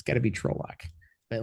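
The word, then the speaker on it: Trolloc: o truck um rhy somebody says rhymes with bollocks trols yeah that's that's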